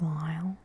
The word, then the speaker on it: glial: gliosa or glial cells I think Lyle is the right way to pronounce that and there are ostracized